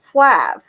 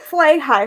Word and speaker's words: Flahive: I had a last name that had so many silent letters in it because it was Flahive, but pronounced Flav. So I would get Flay High, Flaheevy.